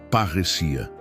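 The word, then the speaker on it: παρρησία: Para entendermos a natureza dessa ousadia, podemos olhar para a palavra grega parresia. Se pronuncia parrecia.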